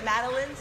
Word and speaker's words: madeleine: The madeleines?